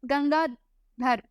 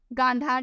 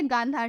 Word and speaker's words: गांधार: ठीक है, अगला, कला की गंगाधर शैली निम्न समय पे फैली फूली। कला की गंगाधर शैली कब फली फूली थी? गांधार शैली। मैंने इसको मिसप्रोनाउंस कर दिया, क्या लिखा है? गांधार शैली, गांधार शैली।